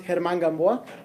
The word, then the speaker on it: German Gamboa: My name is German Gamboa, technically pronounced German Gamboa, but I don't expect you guys to get that pronunciation right.